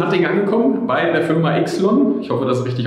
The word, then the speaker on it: YXLON: Allererste Frage, wie wird das richtig ausgesprochen? Du hast es gerade schon gesagt. Ixlon. Genau. Okay.